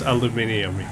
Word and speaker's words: aluminium: She's just aluminium. Oh, that's good. She's recyclable. Aluminum. Aluminium. My God, why would you say it like that?